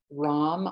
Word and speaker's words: ram: So lam, vam, the third chakra is ram, R-A-M, rong, rong. So it's just the sound of R.